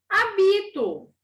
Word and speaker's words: hábito: som e última palavra hábito A outra era abre eu tenho hábito de fazer tal coisa essa é eu hábito aqui hábito mudou a sílaba tônica mudou o sentido da palavra eu hábito aqui olha